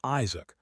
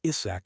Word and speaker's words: Isaac: My name is Isaac, not Isach, as you keep saying.